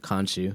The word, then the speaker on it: Khonshu: Mark, and then was it how do you pronounce it? Khonshu, yeah.